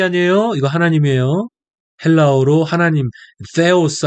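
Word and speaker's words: θεός: 영어의 그 th 사운드 같이 나옵니다. 그래서 데오스라고 하는 발음이 좋지 않고 그냥 theos 이 정도 하면 좀 괜찮은 것 같아요.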